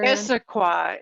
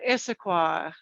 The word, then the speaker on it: Issaquah: she's in washington state um how do you pronounce the city doctor issaquah issaquah i know it's a tongue twister huh that